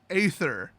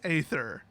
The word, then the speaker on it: aether: and it's a so the word a e t h e r is in English pronounced ather I know that they mean ether but they wrote Aether why did they write